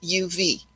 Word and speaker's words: of: any sense at all like of of is spelled o f but it sounds uv so this isn't big